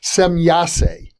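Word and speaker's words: Semjase: Well, the instance that you just cited is fascinating because it suggests that and I understand you're pronouncing it correctly, or at least differently than I've ever heard, semyase. So semyase and these other aliens seem to know the future.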